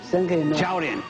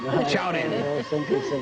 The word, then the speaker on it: 超人: Chaorin. Chaorin.